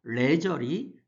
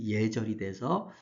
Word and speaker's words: 예절: 예절은 레절이 두음법칙에서 우리가 첫 소리에 니을이 오면 발음하기 쉬운 것으로 바뀝니다. 그래서 예절이 돼서 우리가 예절이라고 합니다.